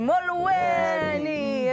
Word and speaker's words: Molweni: Retina City, Molweni. Ninja. And you've got to say it like that too. Molweni.